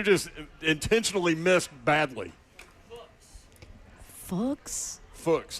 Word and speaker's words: Fuchs: Fuchs, like books. Fuchs, like book. Y'all, no, absolutely not. He's Fuchs on this show. He has to be we're gonna Fuchs.